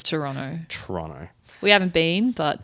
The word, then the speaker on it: Toronto: something about Toronto and we pronounce the second T in Toronto and I was like not anymore it doesn't exist just like the second